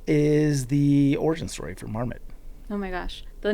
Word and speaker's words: Marmot: I um when I was uh when I first heard of the brand Marmet, I pronounced it Marmo, which was embarrassing.